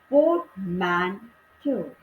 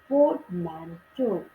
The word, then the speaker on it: portmanteau: The word is pronounced, इसका उच्चारण पोर्टमैंटो, पोर्टमैंटो की तरह से करते हैं with the stress on the second syllable. Second syllable का मतलब है MEN, उस पर हम स्ट्रेस देते हैं. Portmanteau is a word whose